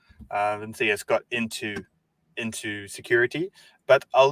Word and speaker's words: Vincentas: Vincentas. Usually Vincentas in Lithuania.